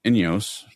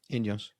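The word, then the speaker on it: Ineos: um in the the net company Inyos. Is that how you pronounce that? Inos.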